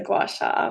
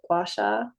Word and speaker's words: gua sha: And really, they pronounce it here, we pronounce it Gua Sha, but in Chinese medicine, it's Gua Sha.